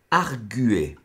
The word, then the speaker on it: arguer: Vous allez poser arguer. A, que vous venez de prendre, R, G, U, E, Z. Arguer, c'est la bonne prononciation. Hein. Même si on entend arguer, la bonne prononciation c'est arguer.